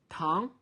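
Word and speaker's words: 糖: this and4 pound town so here tongue is sugar but you have tan tan that means discussion to debate to discuss about something time so be careful about the difference of pronunciation let me write this tan and tongue you feel a difference tongue time and during this week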